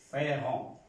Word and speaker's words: feront: Feront. Vemos que la primera persona y la tercera persona del plural se pronuncian igual, pero no se escriben igual.